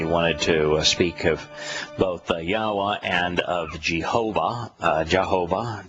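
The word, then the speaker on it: Yahweh: the basis of of yahwa and why we know how God's name is pronounced how it's obvious how his name is pronounced and and uh why Jehovah is absolutely wrong after the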